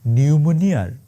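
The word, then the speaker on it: pneumonia: শেখ হাসিনার দশা এখন নিউমোনিয়ার ইংরেজি বানানটা আছে না নিউমোনিয়া ওইটার পি এর মত মানে থাইকাও নাই আর কি আমি আপনাদের একদম দায়িত্ব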